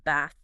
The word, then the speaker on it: bath: In standard southern British, it's a very open back of the mouth vowel like bath.